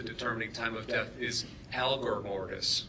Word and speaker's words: algor mortis: be relevant to determining time of death is algor Mortis correct algor mortis a-l-g-o-r what is that that's